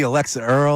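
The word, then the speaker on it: Alix Earle: Anywhere I could see Alexa Earl or or Alex Earl? What? How do you say her name? Is it Alex Earl? It's Alex Earl.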